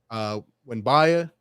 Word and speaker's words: Wembanyama: Wembanyama, I believe is how you pronounce his name, or he's got a crazy name.